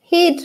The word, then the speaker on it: head: ball with my head head rhymes with bread the first sound that